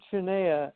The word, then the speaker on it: Cernea: It's Dr. Cernea. Is that correct pronunciation? Dr. Cernea is how you pronounce.